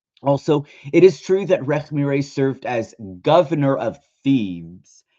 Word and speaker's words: Rekhmire: It's pronounced Rekhmire. Rekhmire.